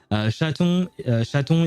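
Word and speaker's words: chaton: Shaton is the way you say kitten and the rest is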